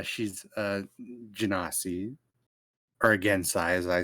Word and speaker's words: Genasi: pronounced it Gensai, okay? I've heard that pronunciation. It's common in some areas. I've also heard Have your Genasi.